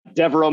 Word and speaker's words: Deveraux: i'm most interactive on uh so uh devereaux my last name is spelled d-e-v-e-r-a-u-x i'm sure it'll be on the